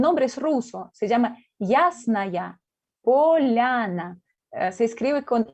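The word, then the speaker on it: Ясная Поляна: se llama el nombre es ruso se llama yásnaia poliana se escribe con y sn y asner después polana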